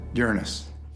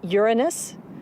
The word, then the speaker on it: Uranus: by Uranus Uranus yeah I pronounced the planets name Uranus which is very likely closer to the original pronunciation of the name of the God after it was named